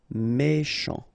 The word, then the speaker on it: méchant: Final T not pronounced. CH together, sh. Méchant, méchant.